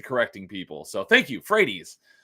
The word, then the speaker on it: Frates: it sooner but I'm happy to have on hello thanks for joining me tonight you're welcome my last name is actually pronounced Fredy fredes well thank you for correcting me on that